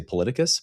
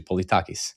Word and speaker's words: Politakis: And then George, he wanted me to say Politicus, but that's Americanized. He told me it's actually Politakis, so I am now saying his name correctly.